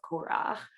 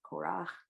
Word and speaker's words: Korah: as the controversy of Korah um is there a way certainly that's not pronounced that way in English Cora Cora okay great oh thank you